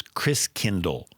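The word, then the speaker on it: Christkindl: from the Christ child wow and the German pronunciation of Christ child is Chris Kindle Chris kingle there you go so kindergarten Kinder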